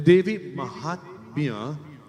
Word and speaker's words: Devi Mahatmya: Tonight we bring to you an introduction to the Devi Mahatam. What is Devi Mahatam? The Devi Mahatmya, as it is pronounced, is the primary text for those who are the worshippers of Durga.